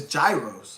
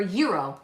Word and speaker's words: gyro: I said it wrong so how do you pronounce it it's Gyros it's not gyro it's gyro or Euro Euro not gyro gyro sorry I've always called